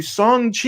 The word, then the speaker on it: Shang-Chi: yeah it's it's awesome um moving on to song chi i said it right said it right song